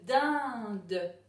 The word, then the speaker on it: dinde: On connaît le de, on connaît le 1, on connaît le de, et il y a un E muet à la fin pour faire chanter le de.